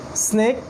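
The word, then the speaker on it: سين: এইটা উচ্চারণ করতে গেলে একটু তীক্ষ্ণভাবে বলতে হবে, এই সাউন্ডটা বের করতে হবে, এই সাউন্ডটা।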